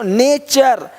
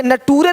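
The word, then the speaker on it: nature: देखो नेचर, यहाँ पे नटूरे नहीं बोलते, नटूरे नहीं, नेचर, है ना।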